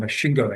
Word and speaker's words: Masvingo: It's called Mashingo, actually. That's how it's pronounced.